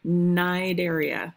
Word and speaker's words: Cnidaria: So they belong in this group called phylum Cnidaria. The C is silent because it's Greek.